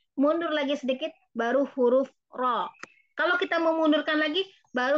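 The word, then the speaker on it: ر: Karena huruf ro ini huruf yang umum sekali orang Indonesia salah membacanya karena menganggap huruf ro sama dengan huruf R. Salah ya ibu-ibu ya. R itu getarannya terlalu banyak. Ya, karena memang posisi lidahnya terlalu ke belakang dibandingkan dengan ro gitu.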